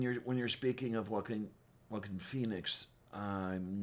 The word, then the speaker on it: Joaquin: who always talk about the actor whackin phoenix not joaquin phoenix whackin phoenix and uh the truth is though enough people gave them crap about it that they've learned to pronounce it properly okay um because when